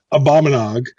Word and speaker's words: Abominog: How do you pronounce that? Abominog. Yeah. Abominog.